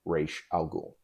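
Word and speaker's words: Ra's al Ghul: google his daughter actually took the name to the language department at her university and asked someone to say to to pronounce it correctly and it is indeed reish al ghul so now that we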